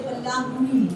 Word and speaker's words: Pallāṅkuḻi: Ro is a particular alphabet which is very natural to Tamil, not in any other language. So we say Balanguri, not Guzi, even though we spell it like that.